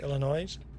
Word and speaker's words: Illinois: We get a load back to Illinois or is it just Illinois? You skip you drop the S at the end. You say Illinois.